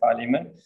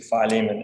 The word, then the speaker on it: Philemon: in the whole Bible the Philemon some bullet pronunciation is apparently Philemon um you can turn